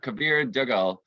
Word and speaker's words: Kabir Duggal: I'm Patrick Miller, and today I have Kabir Duggal. I'm sorry, Kabir, I may have mispronounced your name, No, but I'm you sure you'll didn't.